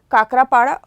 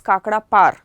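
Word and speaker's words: Kakrapar: These are नारोरा, काकरापाड़ा, some people call it एज काकड़ा पार. Okay, and या फिर ककरापाड़, ठीक है, जैसे भी आप इसे प्रोनाउंस करते हो आपको ये ज़रूर याद होना चाहिए.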